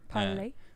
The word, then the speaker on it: Parler: Parlay.